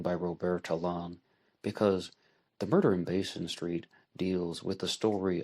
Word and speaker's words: Basin: murder in Basin street it's spelled b-a-s-i-n the young French speaker in me wants to say but uh the West Virginian and me is just gonna say Basin Street and today we are